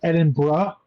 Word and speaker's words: Edinburgh: I think it's pronounced Edinburgh. Yeah, I Edinburgh. think half the letters are silent or rearranged.